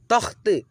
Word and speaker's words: तख्त: चलेंगे जल्दी से, अच्छी, तख्त, तख्त, तखत पढ़ेंगे तो गलत हो जाएगा।